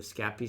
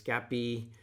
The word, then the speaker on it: Scapy: first we established that you should pronounce scappy scappy or probably if i was doing it french it would be scappy although that sounds more italian so i apologize to